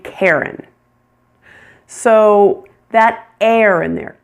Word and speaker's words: Karen: Which R-controlled vowel sound are you hearing in the name Karen? Air, air, air. You're hearing the one that sounds like hair, hair. It's a long A plus air, air.